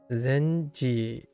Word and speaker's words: 禅寺: In terms of what it's pronounced, Zenji. If you put this word onto the end of the name of a Zendara, the pronunciation changes to Zenji.